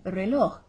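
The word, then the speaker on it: reloj: be saying that so you're barely going to hear the j as you speed up and learn to pronounce it it's going to be i el rello en la clase it's a slight slight tick in the throat okay now the watch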